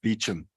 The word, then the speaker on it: Beauchamp: But Beauchamp can be pronounced Beecham.